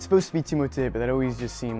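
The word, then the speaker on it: Timothée: are you really timothy it's supposed to be timote but it always just seemed like too obnoxious a requirement to put on people so timothy tim timmy after your third oscar alex it's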